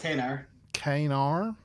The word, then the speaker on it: kanar: kanar for himself uh kanar which we learn is you know uh uh pronounced kaner uh a famous cardassian